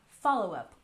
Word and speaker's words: follow-up: And next we have follow-up. Stress the first syllable, follow-up.